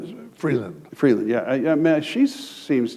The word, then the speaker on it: Freeland: I may not pronounce her name right, but she's the shadow Foreign Minister, Vreeland, I think her name is something like that. BS: Yeah. CB: Is that her name? BS: Freeland.